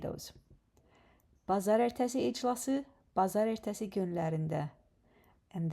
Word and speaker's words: bazar ertəsi: Today is Monday, so the word of today is pazar ertesi.